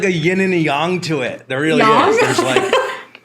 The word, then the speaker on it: yang: Isn't it yang? No, well, I think it's supposed to be pronounced yang, I believe. Oh. Like Chinese pronunciation.